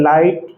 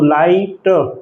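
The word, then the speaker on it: light: रखें बार-बार इसको पढ़े लाइट फाइट माइट राइट side और नाइट इसमें जी एच साइलेंट रहता है।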